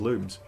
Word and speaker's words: lum: Uh, there's a lum here, isn't there? Or a loom according to the Rayman Origins manual, I think. I think they're pronounced looms.